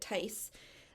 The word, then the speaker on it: Thies: My bus driver growing up, his last name was Tice, Theis. This is, and that's how you pronounced it, Tice. This is Thies, Thies.